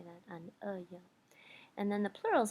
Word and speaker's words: un œil: So, un œil is how you say that, un œil.